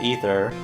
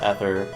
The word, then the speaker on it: Ether: what I'm thinking also as a kid I always pronounce it ether I don't know I don't know when I finally figured out that it's pronounced either but uh but I